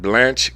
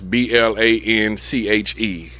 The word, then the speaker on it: Blanche: Nine number nine, Blanche K.